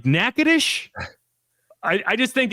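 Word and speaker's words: Natchitoches: in a region with like stuff spelled one way but pronounced a different way, it's perfect, right? Right. Like like nackadish. We all we've all cosigned nackadish.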